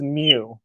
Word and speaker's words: mu: That's pronounced mu.